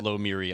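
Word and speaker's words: Lomiri: it that under website they actually had the pronunciation it was lo Miri I looked it up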